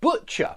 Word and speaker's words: butcher: Butcher, yeah? I'm talking about this word here, butcher. Butcher. Not butcher, but butcher. Yeah, this is certainly this sound. Butcher, a guy who who you buy your meat from.